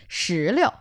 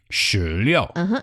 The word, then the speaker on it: 石榴: 石榴. 石榴. 石榴. 石榴. One thing about this word is that 石榴, the second character in 石榴 is the light tone.